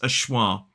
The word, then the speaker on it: of: of this word and this word can simply be pronounced as awah so let's bring in